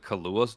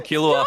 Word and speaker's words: Killua: I like that he still pronounces it Kahlua, just so the other, Sounds like you know,